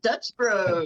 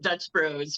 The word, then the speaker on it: Dutch Bros: it down sorry yeah I got rued reded Dutch Bros Dutch Bros sounds better when you say it Dutch Bros for the ruy oh absolutely Bros and ruies